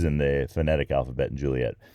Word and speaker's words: Juliett: there and Romeos and Juliett's oh that's why there are two T's in the phonetic alphabet and Juliett because French speakers might think it's zhoo-lee-a if they and also Alfa which